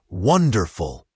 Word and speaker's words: wonderful: Again, have a becomes have a wonderful has the stress on the first syllable, wonderful.